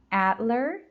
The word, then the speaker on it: Adler: Again, second syllable. Adler Planetarium. Adler Planetarium.